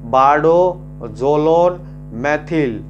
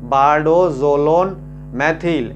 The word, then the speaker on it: bardoxolone methyl: इस मेडिसिन का नाम मैं आपको बता देता हूँ, इस मेडिसिन का नाम है बारडोजोलोन मेथिल।